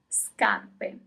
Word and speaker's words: scarpe: Shoes, scarpe. Scarpe. As usual, you always pronounce all the letters. Scarpe.